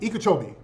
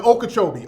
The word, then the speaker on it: Okeechobee: what's that ikea chobi ikejovi am i saying it right the okeechobee okeechobee river okeechobee lake lake okeechobee